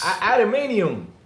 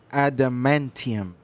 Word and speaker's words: adamantium: Adamanium. Adamanium. Did I say it right? Adamantium.